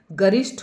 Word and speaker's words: गरिष्ठ: लेकिन गरिष् ठ ठठेरा वाला ठ आएगा। गरिष्ट होता है। गरिष्ठ भोजन जो बहुत ही भारी भोजन होता है उस तरीके से।